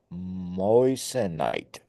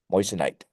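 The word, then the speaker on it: moissanite: said it's cheaper alternative called a moite I think I'm pronouncing that correctly Mo m o i SS a n i t moist night uhhuh lab made yes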